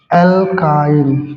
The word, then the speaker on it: alkyne: एक होगा आपका एल्कीन, क्या होगा, एल्कीन, और दूसरा होगा एल्काइन। क्या होगा, एल्काइन, ठीक है ना। एल्कीन का स्पेलिंग ALKENE है और इसका है ALKYNE, एल्काइन।